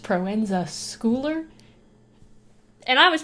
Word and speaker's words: Proenza Schouler: googled it and I found out that it's pronounced Proenza Schouler and I was pronouncing it wrong the whole